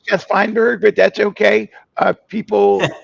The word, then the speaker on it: Fineberg: So welcome to the show Finnberg. Thank you. Uh yeah, it's it's Jeth Fineberg, but that's okay. Uh people um pronounce it. Um I've gotten I've gotten Finnberg.